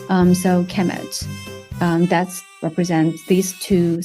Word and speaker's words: Kemet: uh they will be the noun will be pronounced a Kemet so so uh Egyptians